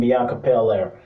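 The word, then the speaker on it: Bianca Belair: shine and i'm talking about liv morgan and bianca paler yes i said it right i just want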